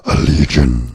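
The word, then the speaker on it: Allegaeon: that's the band Allegiant you have to say it like that Allegiant you have to yes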